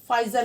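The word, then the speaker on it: Pfizer: फाइजर company. इसमें हमारा जो पी है वो साइलेंट है।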